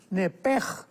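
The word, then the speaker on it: נפש: Entonces, la pronunciación hebrea es nepej.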